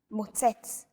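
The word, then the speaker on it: מוצץ: Stress is usually on the last syllable of the word. Avoda, motzetz, mitlabesh.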